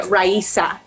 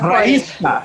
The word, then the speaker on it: Raísa: I'm going to yell at you, Jared, because it's Francia Raísa. Raísa. Sorry, I forgot. I know that. I've made it when people pronounce it right.